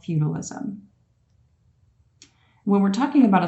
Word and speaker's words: feudalism: learning about called feudalism feudalism like say remember the show family feud feudalism that's how you pronounce that word I just want you